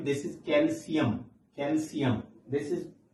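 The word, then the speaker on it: calcium: हैं this is क्वेन this सजेन suggestion लोग pronounce करते हैं digestion a verb keep in mind here this is नॉट कैल्शियम this is कैल्शियम कैल्शियम this is potassium not potassium this is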